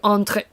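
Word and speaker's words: Andrić: So, C is a separate sound specific to Serbian, Bosnian and Croatian. The closest pronunciation to you would probably be something in the last sound of Shostavok. Shostakovich. So, Andrich.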